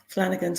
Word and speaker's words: Flanigan: wonderful house music Flanigan am I pronouncing that surname correctly yeah that's right Flanigan's correct thank God for that okay good good